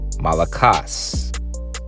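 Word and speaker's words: μαλακός: It's the same Greek word, and it's Strong's G3120, malakos. Okay, that's how it's actually pronounced.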